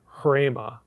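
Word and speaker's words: ῥῆμα: Occasionally it's with the R consonant, like in hrema, that word. That's unusual though. It's typically with a vowel. When you see that, you put an H in front of it.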